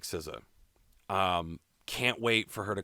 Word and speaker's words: SZA: SZA is how you say that? SZA, yeah, SZA, okay.